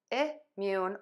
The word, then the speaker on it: immune: You can say immune or immune. Either is fine. They're both super close. The key is it's unstressed and it's very short.